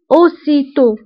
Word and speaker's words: aussitôt: فبالنسبه الاوسيتو كتعني فورا aussitôt فaussitôt كنكتبوها بدوز اس وبالنسبة للأو كتكون فيها أكسان سيركونفليكس وفي آخر الكلمة كنكتبو تي ولكن ما كنطقوهاش أوسيتو بيانتو بيانتو كتعني قريبا